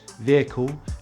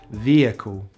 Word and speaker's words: vehicle: in the word vehicle is pronounced with a short vowel in british english and a long vowel e in american english so british english vehicle american english vehicle so let's review what